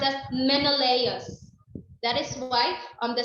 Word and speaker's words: Menelaus: men um in layers or it is um pronounced as menelaus that is why on the second picture is